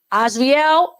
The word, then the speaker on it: Azarael: Azarael, that's how you pronounce his name.